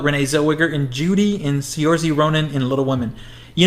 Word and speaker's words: Saoirse: And, Saoirse, I think is how you say it. Sorcerer Ronan. Saoirse.